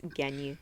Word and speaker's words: Gagny: It's so easy. It's Gagny. No, it's.